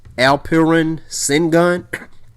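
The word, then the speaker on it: Alperen Şengün: Let me make sure I'm pronouncing his name right. His name is Alperen Sengun.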